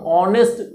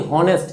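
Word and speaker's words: honest: हम ऑनेस्ट, pronunciation ऑनेस्ट है ना कि हॉनेस्ट है। अगर हॉनेस्ट होता तब कॉन्सोनेंट की बात आती है और तब ये ए लगता है, लेकिन यहाँ पर एच साइलेंट रहता है, ऑनेस्ट बोलते हैं, ऑनेस्ट।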